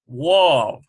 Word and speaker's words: Wav: Wav, pronounced more like the letter we in we, W in we rather.